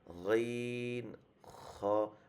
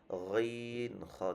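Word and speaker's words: غين: তো আমাদের গইনের উচ্চারণটা এরকম হবে গইন খ, মানে একদম এই জায়গা থেকে একদম একদম খরখর একটা আওয়াজ গইন খ।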